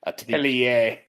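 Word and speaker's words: Atelier: I think I pronounced that right. Atilier.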